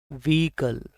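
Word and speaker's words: vehicle: इसमें एच पूरी तरह से साइलेंट है। जो हिंदी में अगर आप देखेंगे वी ई को इसको खींचा गया है ताकि इसके ऊपर मात्रा लग रही है, तो ये बड़ी ई है, व्हीकल, व्हीकल। तो एच इसको नहीं प्रोनाउंस करना है, व्हीकल सीधा, एच भूल जाओ, इसको हटा दो एच को इसमें से।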